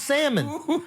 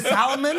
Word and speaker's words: salmon: is in the restaurant you can't even pronounce salmon you pronouncing L I can't I can't take you to Salomon I can't I can't